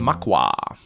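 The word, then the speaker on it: Macha: Matcha is the name of the Irish goddess. She's pronounced Makwa.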